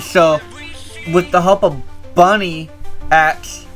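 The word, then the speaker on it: Bunnyx: And then so, with the help of Bunny X, or Bun X, I think is how you say it, she recruits Marionette,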